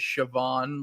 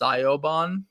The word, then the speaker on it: Siobhan: The only Irish name I know how to say is Siobhan when it's Siobhan. Oh, Siobhan. Yeah. That's how you pronounce that?